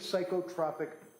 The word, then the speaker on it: psychotropic: What is psychotropic medication with adverse reaction? What does that mean? It's pronounced psychotropic.